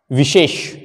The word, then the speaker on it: विशेष: Next, विशेष।